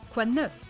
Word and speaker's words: quoi de neuf: Let's say it together. Quoi? Quoi? It's the wa sound. Wa. Quoi de neuf? Neuf. For once, the letter at the end is not silent, so you have to pronounce it.